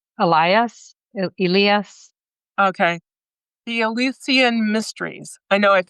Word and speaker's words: Eleusinian: I wouldn't know how to pronounce it in English, but it's like Elias. Okay, the Eleusinian mysteries. I know I've said that. That's what you mean. Yeah, the Eleusinian, I think it is.